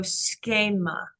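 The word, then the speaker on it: σχῆμα: from actually um so in this case with the Ada it would be a so schma schma yeah but that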